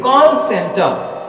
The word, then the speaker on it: call center: Call is a word and also center is also separate word. But when you merge them together, it has a special meaning, that is call center. So stress is on first syllable, that is ka.